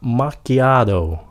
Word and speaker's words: macchiato: Cái này người Mỹ phát âm nó là macchiato. Macchiato. Cái âm đầu tiên đó là mạc, nhẹ thay đừng có mát mạnh quá, just mạc.